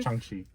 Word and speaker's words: Shang-Chi: So you gotta say Sean and then say Shang-Chi. Sean. Shang-Chi.